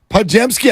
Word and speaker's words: Podziemski: If you weren't with us yesterday, Brandin Podziemski, I think you even pronounced it right.